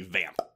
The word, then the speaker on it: Vamp: We are talking about Richard Wenk's 1986 vampire buddy comedy proto From Dusk Till Dawn movie Vamp. With the tongue pop, apparently. Yeah, that's how you say it.